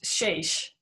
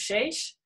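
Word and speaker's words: שש: Dan wil ek net byvoeg, die Hebreëse woordjie vir die getal 6 is shesh. Dis amper soos jou in Spaans ook sal uitspreek, 6 of shesh.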